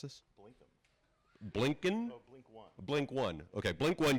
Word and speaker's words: blink(1): creator of the popular how how do you pronounce this blink blinkin blink one blink one okay blink One USB notification light